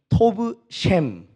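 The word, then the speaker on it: טוב שם: 그랬더니 원어로는 이렇게 발음하더라고요. 따라해 보겠습니다. 좋은 이름이 토브 셴, 좋은 기름보다 토브 셰멘. 그러니까 이제 좋은 이름이 좋은 기름보다 낫다는 말씀은 원어로 토브 셴, 토브 셰멘.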